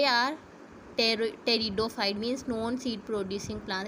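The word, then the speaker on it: Pteridophyte: ये जो है क्या है, टेरिडोफाइट है। P साइलेंट, टेरिडोफाइट है।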